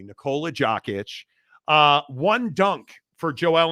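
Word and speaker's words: Nikola Jokić: gots right and uh naola jackit V parade I love mispronouncing names uh here I'll say it correctly nicolea joic uh one dunk for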